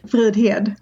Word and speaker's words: Fridhed: how it's actually said how do you say your last name in Swedish F head well I was really close oh my God and